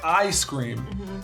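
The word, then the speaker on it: Eye-Scream: actually the weirdest one it's ice cream it's spelled e-y-e scream and if you think that that might be like an eye reference no it's it is an ice cream reference the the guy's power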